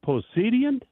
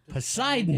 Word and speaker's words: Poseidon: Is it Posidian? Posid. Oh my goodness. So sad. No offense, but that's pretty common knowledge. Poseidon. Poseidon.